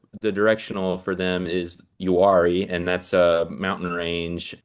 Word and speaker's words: Uwharrie: Yeah, so they're from the directional for them is Uwharrie, and that's a mountain range east of Charlotte.